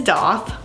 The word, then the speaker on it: daith: you pronounce it um I did find out that the appropriate pronunciation is doth um I've been saying it da like Faith because that's how it's spelled and yeah English language